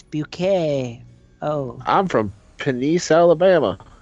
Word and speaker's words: Bucket: keeping up a pair appearances it's but it's bucket miss bucket no it's bouquet oh I'm from police Alabama that's just penis